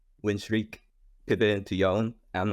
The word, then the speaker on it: Yone: But Keep saying like, Yon. most people are Yone.